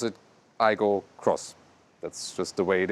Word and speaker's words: Aygo X: Aygo Cross styling, and you indeed say Aygo Cross, although it says Aygo X, and the Corolla Cross says really Corolla Cross. Yeah, they still pronounce it Aygo Cross.